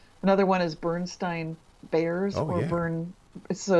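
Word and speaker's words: Berenstain: it's these Bernstein Bears, when they remember that you'd pronounce it Bernstein, which was EIN previously.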